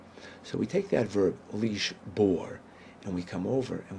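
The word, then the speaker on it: לִשְׁבֹּר: infinitive in this infinitive the bet is pronounced just like that with a B sound leash bore down either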